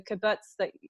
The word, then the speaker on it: kibbutz: from what I hear, the vibration of the kibbutz, is that how you pronounce it, kibbutz?